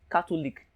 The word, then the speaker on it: Catholic: in lic or ic anytime a word ends in ic you place the stress on the syllable before the ic the syllable before the ic in catholic or this label before the lic in cartoon league is 2.